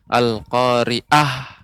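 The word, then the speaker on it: القارعة: catatannya sedikit saja yaitu pengucapan Aa Ain al-khoeriyah ya lebih dileburkan lagi sehingga tidak terkesan pengucapannya menjadi huruf alif Al Qoriah Demikian Ibu semoga kedepan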